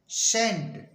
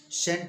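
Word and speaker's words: scent: इसी तरह से एस सी ई एन टी सेंट सेंट means खुशबू एस सी ई एन ई सीन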